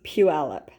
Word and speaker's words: Puyallup: live in Washington state so it's Pew alip and PE alip is where we always have